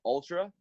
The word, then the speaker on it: Altra: In regards to shoes, I really like a brand called Ultra. It's spelled Altra.